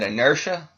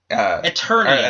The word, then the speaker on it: Eternia: But, yeah, I mean, even if it was, is it inertia? Eternia. Excuse me.